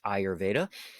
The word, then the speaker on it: Ayurveda: go to the next one it comes from ayurveda and i put the pronunciation there in case you ever see that word you know how to pronounce that but it's pronounced ayurveda and it is the traditional hindu system of